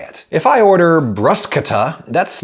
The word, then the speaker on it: bruschetta: Italy would say something closer to bruschetta, and since this basic recipe of grilled bread with stuff on top does hail from Italy, one could argue pretty convincingly that bruschetta is therefore the authentic pronunciation and therefore should be favored.